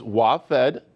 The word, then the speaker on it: WaFd: Yeah, I want to make sure it's WaFD, Arizona.